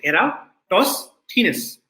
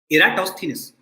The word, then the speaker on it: Eratosthenes: sieve of eratosthenes and this is how you pronounce the name you say era toss thinness okay eratosthenes so this thief alcohol